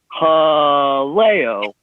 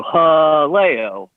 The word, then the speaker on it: Haleo: Yeah, you really have your syllable emphasis wrong. It's Haleo. Thank you. Thank you. That would be the proper pronunciation, and that's how they introduce it when you walk in and the hostess says, welcome to Haleo.